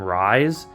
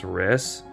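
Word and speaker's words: Rhys: believe it's a wrist I used to call him rise but I believe his name is Riss or it's pronounced as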